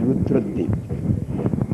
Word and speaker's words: Rudradwip: According to scriptural name, this place name is Rudradip. But ordinary persons, they wrongly pronounce it as Radhupur.